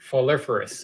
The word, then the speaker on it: Floriferous: How do you pronounce the name of this game? Game with flowers. Floriferous.